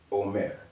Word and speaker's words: Homer: before him Homer but remember that isn't an H that's aah so his name is actually Omare om Omare but since